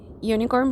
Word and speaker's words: unicorn: for example here unicorn so unicorn begins with vowel okay but the sound sounds like why Leone corn it's not only corn unicorn okay sounds like Y therefore we don't say